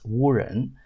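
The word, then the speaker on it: wu jen: So this implies that the J in yen is actually pronounced more like a Y, meaning that it would be pronounced like Wu Yan, which means something like a magic person or a cursed person. And in Mandarin, it would be pronounced Wu Ren.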